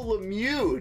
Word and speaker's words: Lemieux: Mario Lemieux, dude.